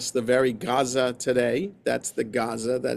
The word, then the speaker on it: Gaza: So that's why the place is called Gaza and not Aza, with an A in English. Okay, because it reflects the how the place would have been pronounced by the people who live there.